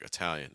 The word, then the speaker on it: Italian: may hear so for Italian that first syllable can be a short eye sound but you may also hear people pronounce it with awah like Italian Italian in fact you